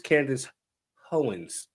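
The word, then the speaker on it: Candace Owens: mainly just oh my fa I said her name wrong it's Candace hoens yeah she's one there's a few people out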